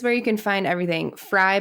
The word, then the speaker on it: Frey: Fry, by the way, is spelled with an E. It's Frey.